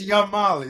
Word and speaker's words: Yamal: It's Yamal.